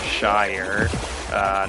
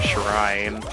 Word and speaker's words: Shire: I think it's pronounced Shire, not Shrine, but whatever.